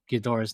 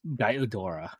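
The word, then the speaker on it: Ghidorah: these uh Godzilla movies I didn't pronounce Gdora's name as Gdora I pronounced as Godora Gora because you know I I was like six these movies.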